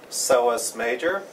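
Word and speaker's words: psoas major: one is called the soos major soas is spelled with a p but you do not pronounce the P the seos major is right next to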